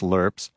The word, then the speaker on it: LRPs: Griffin had packed standard issue cantens, LRPS, meals that were pronounced lurps, hot sauce to kill the taste of the lurps, a tin can for coffee.